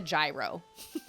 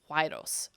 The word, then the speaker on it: gyros: It's Gyros, but it's pronounced like Y. Huayros.